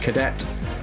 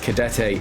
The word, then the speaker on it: Cadete: recognise, I always thought he was called George Cadet, but he is pronounced Cadete in the game as part of the glorious commentary.